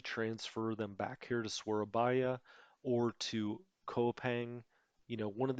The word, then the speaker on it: Surabaya: Because this air squadron, we can always transfer back to Surabaya, as we learned it's pronounced.